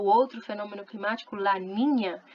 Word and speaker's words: Niña: outro fenômeno climático, La Niña. Ninho, ninha, menino e menina se escrevem com a letra N, que tem som de NH, ok?